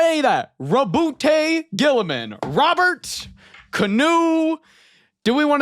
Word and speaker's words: Roboute Guilliman: At the back here, it has a pronunciation guide, and the first one, ROBOUTE GUILLIMAN. ROBOUTE GUILLIMAN. Not GUILLIMAN, not ROBOUTE, not any of that. ROBOUTE GUILLIMAN.